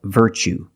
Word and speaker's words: virtue: You see t u e as the second syllable. So the t is pronounced ch like chicken. So what's the pronunciation? That's right. Virtue.